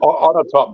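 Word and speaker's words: Onatopp: On a top, you pronounce it.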